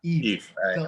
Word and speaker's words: Yves: So they try to pronounce it. Yves. It's Yves Edwards. It's just Yves. Yeah. Yves.